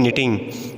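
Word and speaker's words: knitting: अब हम अगले जो हमारे पास में जो नेक्स्ट हमारे पास में डेफिनेशंस है उसको बोलते हैं निटिंग। ठीक है, इसमें के साइलेंट रहता है, इसको बोलते हैं निटिंग।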